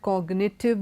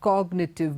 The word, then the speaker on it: cognitive: magnet and all that cognitive the G is pronounced so you can't say it applies to all words in the words given below signature cognitive magnet here the G